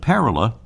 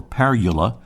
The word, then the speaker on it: Parula: back to the pronunciation according to the American bird Conservancy the accent is on the first syllable they point out that parala or parula is a diminutive of